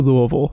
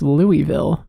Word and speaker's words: Louisville: on my flight to louisville someone was like yeah everyone thinks it's louisville but it's louisville you really gotta swallow that first syllable i think it's sad